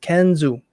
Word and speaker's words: Kenza: My name is Kenza. Pronounced Kenzu.